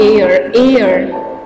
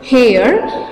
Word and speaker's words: heir: Okay, and who is unlucky heir. You should not say hair. H is silent here, children.